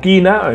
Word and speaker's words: Kena: El Kena, que ya sabemos que el Kena, o Kina, en mi caso yo lo pronuncio como Kena, me resulta más interesante.